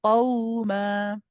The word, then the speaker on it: قوما: So you want the same ending at the end of the qaw, not qaw. See, it's heavy. Qaw, nice and light. Qawma.